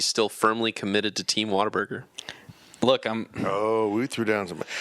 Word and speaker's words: Whataburger: In fairness, you said Whataburger. I think you're missing the R in Whataburger, and that's why you say it wrong.